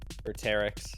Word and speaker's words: Vertex: Please learn how to say his name. Please. All right, fine. Vertex. Nope. Vertex. Nope. Vertex. There you go.